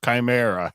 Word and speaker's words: chimera: there he always gets on me about my pronunciation of time areas it's Chimera if you want to sound pronounced professional it's